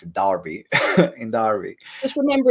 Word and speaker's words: Derby: April uh in the Midlands in Derby in Derby I still need to find a right way to pronounce it Darby in Darby just remember it's an a not